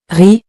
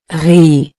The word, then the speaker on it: riz: Riz. It means rice. And to help you, I'll highlight the silent letter in purple. The Z is not pronounced. Riz.